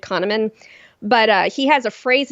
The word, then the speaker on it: Kahneman: In fact, there's a book called Thinking Fast and Slow by, I believe his name is pronounced David Kahneman.